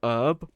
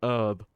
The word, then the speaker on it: herb: came out and uh Chris would pronounce herb herb and that always bothered me I was like why are you calling it herb what does mean he